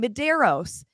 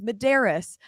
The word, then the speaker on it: Maderas: thing with Justin maderas for years we were saying Maderos his family says no it's maderas so now everybody thinks